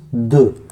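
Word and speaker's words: deux: Then 2 is the, D-E-U-X, the.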